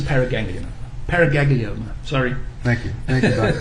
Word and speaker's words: paraganglioma: Doctor, just for clarification, is it pronounced paraganglioma or paraganglionoma? I often add in the extra vowel, so it's a paraganglioma.